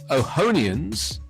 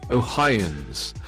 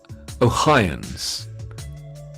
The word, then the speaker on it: Ohioans: more than 200 000 ohonians is that how you say it oh hi near ohioans ohioans it's not ihonians ohioans uh with marketplace insurance